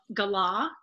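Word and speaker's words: galah: do have a third presenter today squirt the gala is that how you pronounce that yeah so the law that is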